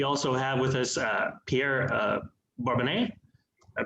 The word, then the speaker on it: Bourbonnais: And we also have with us Pierre Bourbonnais. I pronounced that right?